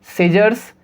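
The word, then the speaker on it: scissors: तो इन सभी वर्ड्स के अंदर इस कंडीशन में C साइलेंट होगा। सीजर्स, डिसिपाइल, muscles, scene.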